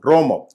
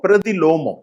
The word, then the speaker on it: பிரதிலோமம்: ரோமம். கீழ் ஜாதி பெண்ணும் மேல் ஜாதி ஆணும் பிரதிலோமம். ரோமம். ரோமம் என்றால் ரோமம் இல்ல, லோமம். லோமம். இப்படிதான் அனுலோமம், பிரதிலோமம்.